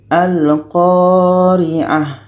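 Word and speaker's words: القارعة: Maka ta marbutah ketika berhenti menjadi huruf ha. Menjadi bacanya al-qari'ah. Al-qari'ah. A ini tetap kita baca pendek dan ta marbutoh ini kita matikan. Yaitunya menjadi huruf H yang mati.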